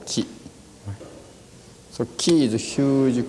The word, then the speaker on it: qi: That means, in Oriental words, for Chinese pronunciation is qi.